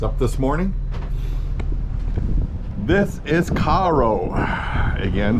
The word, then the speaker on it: Cairo: this morning this is Caro again spelled like Cairo but they pronounce it Caro um they have a